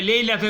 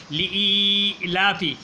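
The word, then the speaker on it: لإيلاف: যাক, এরপরে সূরা কুরাইশ, এ অনেকে পরে লেইলাফে কুরাইশিন, লেইলাফে আসলে লি লাম দিল্লি আলিফিয়াজির ই জের পরে ইয়াসে কিন, আবার লামের উপরে হারা জবর লি লাফি, অনেকে লেইলাফে কুরাইশিন, হ্যাঁ, লিলাফি, হ্যাঁ, লি লম্বা করে না, লিলাফি কুরাইশিন, একটু খেয়াল করে পড়তে হইব।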